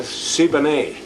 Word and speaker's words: Siboney: better print on that one Briny bits aboard saboni oh oh they call it the siboney oh that's how you pronounce it this is their pictures when when